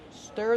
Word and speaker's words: stir: stir and to mix stir the food with a whisk how do we pronounce stir stir use the closed ear sound like Burger you stir the food